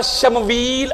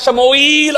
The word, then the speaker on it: شموئیل: جب طالوت خلیفہ بنے وقت کے رسول اور نبی کے، ایک تلفظ آیا ان کا شمویل علیہ السلام، اور ایک ان کا تلفظ ہے شموئیل علیہ السلام. دو طرح سے ہے نبی یار.